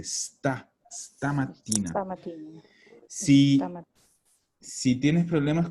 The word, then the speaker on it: stamattina: Si sono sentiti stamattina, no stamattina. La palabra empieza con S, stamattina.